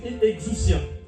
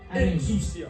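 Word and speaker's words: exousia: La puissance en grec, c'est exucia. Ah bah la puissance grec exus hein. Ça s'écrit E x O U S I A. Exuustia.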